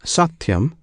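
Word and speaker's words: सत्यम्: the true satum alone this satum consists of three syllables one syllable is sa another T the third yam the first and last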